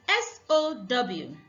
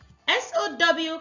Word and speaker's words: sow: SOW can be pronounced as sow. This means to plant. In this case, it is a verb. It can also be pronounced as sow. Sow is a noun, which means a female pig.